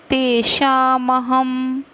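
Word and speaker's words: तेषामहम्: तेषामहम, ह के ऊपर डॉट, तो म क्यों, क्योंकि स है, तो स अगला अक्षर है तो हम ह डॉट का उच्चारण म करते हैं।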